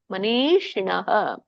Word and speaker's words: ಮನೀಷಿಣಃ: ನೀ ದೀರ್ಘ ಇದೆ. ನೀ ಶಿಣಃ. ಶಿ ಮೇಲೆ ನಿಮ್ದು ನಾಲ್ಗೆ ತುದಿ ಮೇಲಿನ ಅಂಗಳಕ್ಕೆ ಹತ್ಬೇಕು. ಮನೀಷಿಣಃ.